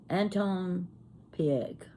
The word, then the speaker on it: Anton Pieck: Anton Pieck. That's how I pronounce it. Anton Pieck.